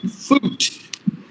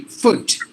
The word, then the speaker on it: foot: but it should be foot now some of the speakers we say vote just because there are two um O's they say food but it should be foot when the with the shot sound and this word sometimes